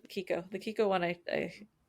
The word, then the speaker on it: Kiko: wrong anyways I like Kiko the kiko one I I I like okay is that how you say it it's not Chico nope oh I've been saying it wrong I said Chico for all like and